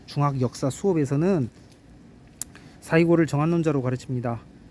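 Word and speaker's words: 西郷: 풀립니다 예 쌓이고 쌓이고 발음을 잘 하셔야 합니다 사이코 아니고 사이고입니다 흥미로운 건 사이고 다카모리가 정한론자냐 하는 문제인데요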